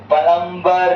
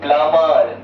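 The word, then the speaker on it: plumber: प्लंबर बोलना गलत है देखो एम के बाद बी आया है ना तो बी यहां पे साइलेंट है यानी कि हो जाएगा पी एल यू एम ई आर प्लमर ठीक है इसको प्लमर कहते हैं ना कि प्लमबर अब ध्यान से समझो।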